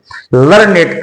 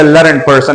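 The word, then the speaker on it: learned: हम फिर लर्नड की तरह उसको प्रोनाउंस करेंगे। ही इज़ अ लर्नड पर्सन। नॉट ही इज़ अ लर्न पर्सन। ही इज़ अ लर्नड पर्सन। अगला जो लज़ है वो है सैक्रिड।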